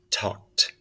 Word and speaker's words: talked: Walt I say walked so the L is silent same with this one